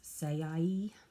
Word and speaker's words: Saie: Now I've got this Saie, I guess that's how you pronounce it, S-A-I-E, mascara, and I'm just